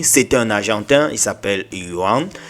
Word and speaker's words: Juan: C'est un Argentin, il s'appelle Yuan. J'espère que je prononce bien, hein. Je ne sais pas s'il faut dire Juan, mais bon, Yuan.